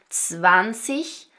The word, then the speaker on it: zwanzig: It's always that soft CH sound right like we talked about in the pronunciation video so that we have zwanzig, dreißig, vierzig, fünfzig, sechzig,